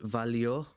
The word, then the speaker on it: valió: In the present tense, it's not irregular, so just valió, with the accent on the O, valió la pena.